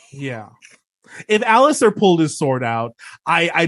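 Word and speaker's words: Ser Alliser: it's Alistair without the T. Alistair. Alistair. Okay. I keep Yeah. wanting to say like Alistair, Alicent or something. So it's Alistair.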